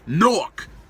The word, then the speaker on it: Newark: is well excuse me they don't pronounce in newark nork is only like 12